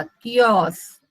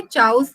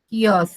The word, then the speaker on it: chaos: CH क आएगा, कियोस. Okay, चाउस नहीं है, वो कियोस है.